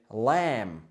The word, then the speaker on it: lamb: Takže jahňacie je lamb. Lamb. OK. Nevyslovujeme B ani P na konci. Je to je to lebo kombinácia spoluhláskových spoluhlásková skupina MB v tomto slove. Čiže lamb. Lam.